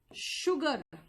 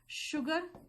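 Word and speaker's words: sugar: ma'am आपने कहा कि शुगर यानी कि एक बार एस एच का साउंड दे रहे हो शुगर फिर अगर मैं सेम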